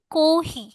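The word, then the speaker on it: コーヒー: আর কাতাকানায় যদি বলি, কাতাকানায় chocolate, pizza, আইস কোহি, কফি না বলে এটাকে উচ্চারণ করছে কোহি। ওকে। নর্মালি ইংলিশ কিভাবে কফি হয়, বাট ওরা অ্যাকুরেট ইংলিশটা উচ্চারণ করবে না, ওটাকে একটু ডিফারেন্ট ভাবে করবে, কোহি, আইস কোহি।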